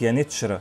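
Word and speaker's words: Yeniçeri: وفي اللغة العثمانية حرف الكاف اللي فوقيه ثلاث نقاط لا ينطق كاف لكن بينطق نون، وكذلك حرف الجيم كان بينطق في التركية العثمانية تشا، لكن التبس الأمر على المصريين والعرب لأنهم كانوا بيسمعوا الاسم من الأتراك يانيتشرا، لكن في نفس الوقت لاحظوا وجود كاف عند كتابته ولم يكونوا يعلمون وقتها أن الكاف المنقوطة بتنطق نون في اللغة العثمانية.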